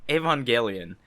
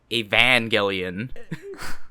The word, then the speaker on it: Evangelion: All right, Neon Genesis Evangelion. I put this down on the list. What? I love that pronunciation.